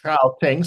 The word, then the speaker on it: Gauteng: it's Gauteng, so you kind of have to Gauteng. Yeah. you sort of honkarugi, then you're halfway there.